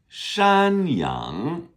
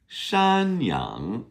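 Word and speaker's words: 山羊: Shanyang is like a mountain goat. Shyang. Shan is mountain. S h a n first tone. Yang is y a n g second tone.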